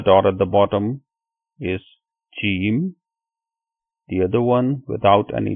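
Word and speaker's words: ج: The first one, it has 1 dot at the bottom or in the middle, and it is called Jeem. Jeem.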